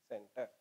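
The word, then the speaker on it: Tsentr: टी साइलेंट है, इट is pronounced as सेंटर।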